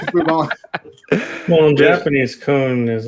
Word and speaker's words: kwoon: Also, to answer DJ's question, Chinese dojo or training hall is called a kun. Which did you just say coon? I know I have a speech impediment and I apologize, but it's spelled KWOON in English.